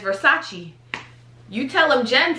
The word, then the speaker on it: Versace: in several rap songs and it's moment of versace okay have you been saying versace a lot of people say versace um a rapper that will forever be nameless said versus that's like i was like did he mean